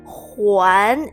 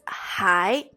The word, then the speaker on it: 还: So when you say huán, it means return, either return books or return something that you borrow. However, this word also has a different pronunciation, which is pronounced as hai.